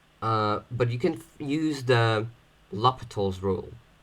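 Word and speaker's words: L'Hôpital: Some people say the hospitals. That's incorrect, but, just saying in case somebody says the hospital's rule and you don't know what he's talking about, but it's supposed to be pronounced L'Hopital's rule.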